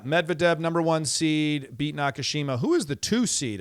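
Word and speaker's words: Nakashima: Brandon Nakushima. Brandon Nakushima. Crushed crushed that though. Uh so yeah, Medvade number one seed beat Nakushima.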